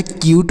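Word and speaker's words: cute: यू टी ई म्यूट सी यू टी ई तो सी से क लिखेंगे आधा क और इसके बाद है यू तो यू का उच्चारण यू करेंगे क्यों करेंगे क्योंकि इसके बाद एक कंसोनेंट उसके बाद ई है तो यह क्यूट हो गया सी यूटी ई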